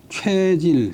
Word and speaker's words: 최질: 이때이어서 이제 아버지 능에 참별하는데 최질 상복 발음이 이제 최가 되면 상복 쇠가 되면 쇠약하다.